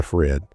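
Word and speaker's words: FreHD: Next up, the Fred. And I think that's what they call it, Fred, but it's F R E HD. So, I guess the H is silent.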